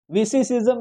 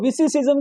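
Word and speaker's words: vicissim: मतलब उसने कहा कि इस लफ्ज को विसिसिज्म को पढ़ाओ वी किस हिम, ओ गॉड, एंड ही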